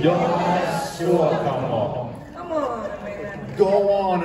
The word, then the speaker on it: Jonas Suotamo: Jonas Suotamo. Okay. You pronounce every word in Finland. There's no Finnish has no silent letters. No. We don't silence our letters. We went off. Every letter counts.